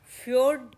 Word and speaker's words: fjord: Next type, if यू see, next type is फ्योर्ड type of, इसकी spelling तो इस तरह FJORD, फ्योर्ड type of estuary.